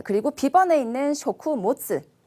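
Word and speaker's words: 食物: 자, 그리고 B번에 있는 쇼쿠모츠. 쇼쿠모츠 하는 거는 이제 식물 아니고 타베모노. 이제 그 타베모노 음식물을 바로 붙여서 식물 쇼쿠모츠라고 발음하시면 되겠습니다.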